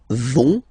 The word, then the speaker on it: vont: you don't pronounce it, so ils vont, final T, not pronounced.